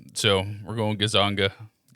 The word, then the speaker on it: Gonzaga: I need I'm going to need help pronouncing that one. That's Gonzaga. Gonzaga. Yeah. Okay, that's good. I would have said Gonzaga. You can also say Gonzaga.